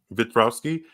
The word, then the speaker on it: Wiktorowski: How do you pronounce his name again, Nick? Wiktorowski.